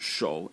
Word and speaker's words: 手: And the semantic element is this character over here, which is pronounced 手, and it means hand.